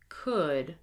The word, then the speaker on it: could: Skill practice: silent L. Do not pronounce the L. Here we go. Would, should, could, walk, talk, half, chalk, salmon.